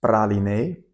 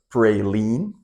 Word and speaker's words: praliné: It has praliné, as we pronounce it in Europe. US people pronounce it like praline, but we say praliné in French, let's say.